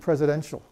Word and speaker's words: presidential: look at President and presidential in the word president the letter T represents a t sound and the word presidential represents a shift sound hey look what's what